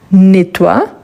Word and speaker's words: nettoies: Donc, je peux dire je nettoie, tu nettoies, avec S à la fin. Les E n'a pas d'accent, il est muet, par conséquent le S également.